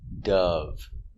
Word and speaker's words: dove: the usage so remember the white bird is a dove making the short sound uh uh uh relax uh uh the sound is down here uh du Dove Dove so the white bird is